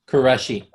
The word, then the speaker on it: Quraishi: pronouncing that? Quraishi.